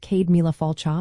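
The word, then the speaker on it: Céad míle fáilte: You might also hear Cade Mile Folta, pronounced Cade Mila Falcha, meaning 100,000 welcomes, used to warmly invite someone.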